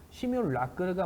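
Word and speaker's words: simulacre: 이거 한번 읽어 보십시오 여러분 이것을 이제 시뮬레이션이라고 읽으면 안 됩니다 왜냐하면 이제 프랑스 용어였기 때문에 시뮬라 c형이라고 불렀죠 근데 시뮬레이스형이 이제 미국에서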